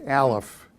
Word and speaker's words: Aleph: shame on me there's Aleph it's actually usually not pronounced but it's used in the pronunciation it's the third character